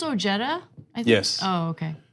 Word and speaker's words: Ojeda: yeah it's West Virginia it's O Jetta no I've had him on the show two times okay maybe three so but like it's pronounced like that be just because of